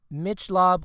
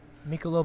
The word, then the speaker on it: Michelob: 2023 will be played in Las Vegas at Mitch lob Ultra Arena Michelob how do you say Michelob Ultra Michelob Michelob Ultra excuse you Mitchell Michelob Ultra Arena my god dude I don't